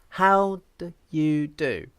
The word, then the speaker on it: how do you do: it's just like this how do you do you see so i don't use the vowel oo here i just say da i use a schwa how do you do